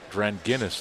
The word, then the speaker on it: Dranginis: they lead all scorers and free throws coming here for kyle dranginis got clarification on that pronunciation today it's grand guinness like the beer well for now it